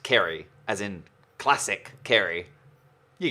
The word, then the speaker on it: Ceri: thanks kerry well hi i'm carrie spelt pronounced kerry as in classic carry you get it i've